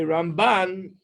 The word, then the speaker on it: Ramban: When you say Ramban, you put the emphasis on the second half of the word.